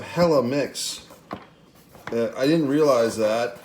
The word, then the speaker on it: Helimix: hello i guess you you're supposed to say it like some like gwen stefani from california and 1995 hella mix that i didn't realize